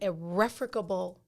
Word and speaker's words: irrefragable: It is spelled IRREFRAGABLE.